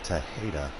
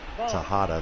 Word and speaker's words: Tejeda: it on the broadcast it is Anderson tech Peeta not Tejada the change-up mrs.